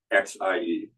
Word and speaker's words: xie: So instead of X-I-E for xie, I spell it S-Y short E-H, S-Y-E-H, xie, xie. So it comes out sounding like the true pronunciation.